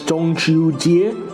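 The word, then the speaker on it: 中秋节: calendar around the autumn equinox its name is pronounced in this mandarin as jongju jie or jung chao jit in cantonese and dong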